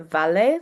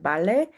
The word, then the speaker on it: vale: I would pronounce it valet, like with a very strong V sound. But I quickly learned that the Spaniards actually use more of a soft B when pronouncing that word, like valet.